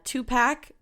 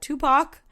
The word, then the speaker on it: Tupac: important to note that on April 8th, 2017, Tupac, oh my gosh, why did I say it like that? Tupac, and the singer-songwriter of Pearl Jam were entered into the Rock and Roll Hall of Fame.